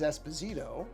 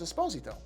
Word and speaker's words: Esposito: Now, often mispronounced as Esposito, but it is not actually supposed to be pronounced that way. He's very specific about that, and he's correct. The Italian pronunciation of the last name is Esposito.